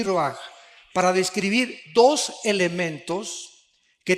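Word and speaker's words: רוח: Aquí se usa otra palabra hebrea que es se escribe roach con R de Raúl A. Se pronuncia roaj. Por ejemplo, cuando hablamos del Espíritu Santo, el Espíritu Santo es roaj, el Kadosh, el Espíritu Santo.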